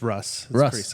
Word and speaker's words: Rusz: come with anything creative it's Russ well that would have been easy R how do you spell it though you don't spell it like rust it's there it's r u z z okay it always threw